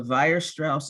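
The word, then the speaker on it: Weierstrass: okay so here's the theorem it's called the virus strauss approximation theorem envirospouse is pronounced spelled with the w okay if f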